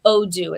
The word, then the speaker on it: Odoo: it's called Odoo. It's spelled Odoo.